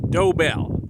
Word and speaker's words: Doebell: to help you understand how to pronounce the name of their Ranch dobel they got a doe and a bell and um well we're